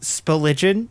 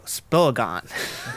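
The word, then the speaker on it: Spilligion: we have spillwood village with speligin or if you're if you're a poor pronunciation you can go spelagon that's nice uh spillage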